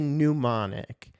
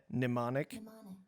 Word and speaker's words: mnemonic: I'm saying I'm pronouncing the initial E in there like ew when it should be mnemonic.